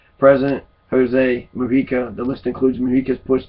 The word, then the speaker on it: Mujica: It's a J. It looks like Mujica, right?